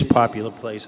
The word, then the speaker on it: Poplar Place: The plan suggests it's Popular Place. Anybody know, is that true? Yep. It is Popular Place. I thought I mispronounced it as Popular.